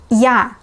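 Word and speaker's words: Я: like Q or use yeah like the sound yeah in yard these were the vowels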